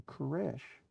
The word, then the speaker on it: Koresh: change his name to koresh because that is how the name Cyrus is pronounced in Hebrew second he must become